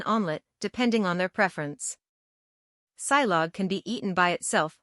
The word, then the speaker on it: silog: SILOG is a very umami-packed breakfast from the Philippines, pronounced as SILOG, which is a shortcut for two words.